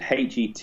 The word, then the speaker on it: Hetmyer: Now, I don't know how you pronounce that name. It's Hetmyer, so Hetmyer.